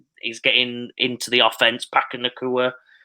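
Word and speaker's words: Puka Nacua: Pakanakua, that's his pronunciation. I've heard about 50 different ones now, but Pakanakua I'll go with.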